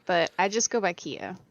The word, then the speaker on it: Killa: Okay, so the way it's pronounced is kind of like, you know how tortilla is? Yeah. It's Spanish word, so you pronounce it without the L's. So, technically the way you would pronounce it is KIA. It's Kia. Uh-huh. So the L's are silent.